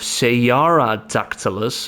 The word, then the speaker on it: Cearadactylus: of flying around here so ceradactylus of sayara dactylus if I have to pronounce it correctly and Sierra dactylus is